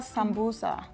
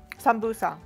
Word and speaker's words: sambusa: So we call this in Ethiopia sambusa. Sambusa. It almost sounds like samosa. I don't know where the translation got lost, but we pronounce it sambusa. But it's the same as samosa.